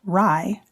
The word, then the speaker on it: RIE: Magda Gerber, the creator of the Respectful Caregiving Approach Resources for Infant Educarers, commonly known as RIE, pronounced RIE, was a parent and caregiving educator, infant specialist, and author of the book Your Self-Confident Baby.